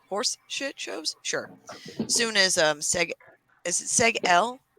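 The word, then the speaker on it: Seg-El: Soon as is it Seg L? How do you pronounce that? Seg L? Is that right? Yeah. Seg L Seg L, yep.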